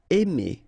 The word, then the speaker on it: aimer: Aimer. Okay, remember when you combine A and I, then you get the sound E. Really open, E. Aimer.